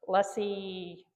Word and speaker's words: lessee: So, they were lessee that's how you pronounce it um operators between 2003